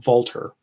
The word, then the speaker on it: Walther: I guess it's actually pronounced Walter.